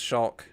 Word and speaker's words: Shulk: i didn't record mine within the first two syllables i was like this shulk a shulk and i i think even clocked it took them a while before but i thought it was show but if i mean i didn't want to